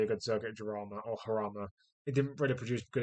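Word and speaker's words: Jarama: something stupid like that um but yeah Jama or harama Jama because all the because British people don't know how to pronounce anything that isn't English does my titts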